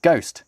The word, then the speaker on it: ghost: It's only got a silent H in it because the word ghost has a silent H in it. And ghost only has a silent H in it because Flemish printers, when